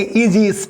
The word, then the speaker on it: Aegis: अब AE है और AE का प्रोनाउंसिएशन क्या होता है? ई होता है सर। तो क्या करेंगे? इसको लिखेंगे आप बड़ी ई लिखेंगे, उसके बाद लिखेंगे इजीस, ठीक है ना।